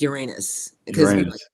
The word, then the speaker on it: Uranus: and Uranus oh wow that's actually the correct pronunciation you guys they changed it it's Uranus now they're kind of Uranus